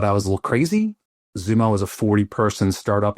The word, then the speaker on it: Xumo: Zumo was a 40 person startup in Irvine and they're like, "You going to XO?" I go, "First of all, it's pronounced Zumo and one day you will you will know our name.